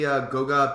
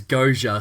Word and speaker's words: Goga: You have any Goga Batatse? Is that right? Thoughts? I've seen people say it as Goja, so I'm going with Goja.